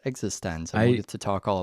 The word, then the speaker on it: eXistenZ: sneakers and existense which thankfully I know is pronounced existence I used to talk all about that yeah